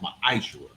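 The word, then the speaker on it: מעשר: It means 10th in the Hebrew, and it's pronounced Ma'ishra.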